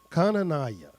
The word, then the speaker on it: Hananiah: Now among these were the children of Yehuda, Daniel, Hananiah, which is Kananiah. That's how it's actually pronounced.